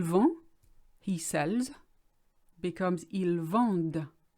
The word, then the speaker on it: vendent: The only difference between the two is the D that is pronounced. Because there's ENT after it, you have to say everything up to the ENT, but ignore the ENT itself.